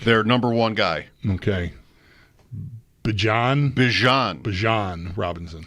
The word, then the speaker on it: Bijan: Bijan Robinson. It's not Bijan. Right. He wanted you to know. Okay. He's like, I know a lot of people say that, but it's Bijan.